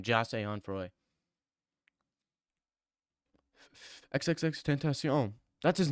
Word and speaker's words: XXXTentacion: XXXTentacion. That's his name. It's not XXX ten tent tenac tentacion.